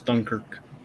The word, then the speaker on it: Dunkirk: of bothers me you're saying it wrong it's dunkirk okay i feel like i feel like daniel